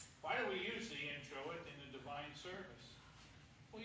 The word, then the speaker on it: introit: The introit, pronounced introit, comes from the Latin word introdius, which means entrance.